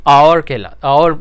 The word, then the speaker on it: hour: H की आवाज़ तो अगर H की आवाज़ होता तो वो हावर होता। अक्सर लोग हावर कहते हैं, हमारे लोगों में से जिनको पता नहीं होता, लेकिन प्रोनाउंसिएशन जो इसकी है ये आवर पढ़ते हैं हम, ठीक है।